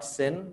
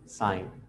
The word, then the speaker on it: sine: साइन, कोसाइन और tangent, ये तीन मेन रेशोज हैं और इनके शॉर्ट फॉर्म है एस आई N, pronounced not सिन बट साइन, सी ओ S pronounced cos एंड टी ए N pronounced tan.